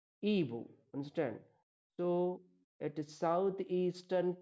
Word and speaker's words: Igbo: The spelling is Igbo, but the pronunciation is Ibu.